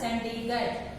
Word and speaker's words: Chandigarh: Second one, Chandigarh. It's pronounced as Chandigarh.